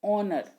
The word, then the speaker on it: honor: Honor. So sound comes AU, aw. So this is, we can use with it N, because sound is not H, though it begins with H, but it is not pronounced honor, it is pronounced honor.